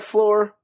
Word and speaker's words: Flore: So it sounds like floor, but it's not the floor you're thinking because it's our floor. We hope you enjoyed your time on the floor.